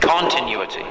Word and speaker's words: continuity: is continuity huh continu continuity yes it's got a Accent on the o continuity now while umisho comments